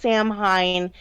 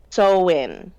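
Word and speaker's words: Samhain: you ever see it it's not pronounced Sam Hein it's so in like you're sewing in something sewing uh when people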